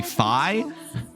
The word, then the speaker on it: Fi: It's supposed to rhyme with sky or high. So be fi.